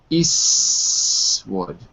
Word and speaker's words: Eastwood: Another thing I can point out here is that the T in Eastwood gets dropped. So it actually looks more like this. Eastwood.